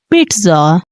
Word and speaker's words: pizza: all of you so the correct pronunciation of this word is pitza pitza so guys if you